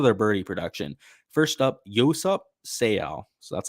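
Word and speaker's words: Yoseop Seo: it's because of their birdie production first up yosap sale so that's how you say his name actually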